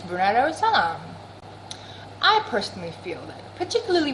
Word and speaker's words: Brunei Darussalam: about living in Brunei, Jerusalem. How you gonna live here and not know how to pronounce the name of this country? It don't spell like Jerusalem. It don't sound like Jerusalem. It's Brunei Darussalam.